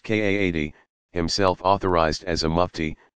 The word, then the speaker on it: qadi: matter before a religious judge called a qadi, pronounced Kaadi, himself authorized as a mufti, to adjudicate the matter.